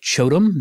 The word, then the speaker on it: QOTOM: or more industrial looking stuff, I really like Chotom. That's spelled QOTOM.